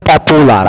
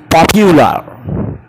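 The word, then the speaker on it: popular: ভুল উচ্চারণ হচ্ছে পপুলার, আমরা বলি পপুলার, সে অনেক পপুলার, এটা সে পপিউলার।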